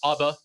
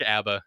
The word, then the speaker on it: ABBA: I had no idea ABA depending on how you want to pronounce it like to say Aba I like Abba it's more fun to say I feel like pretend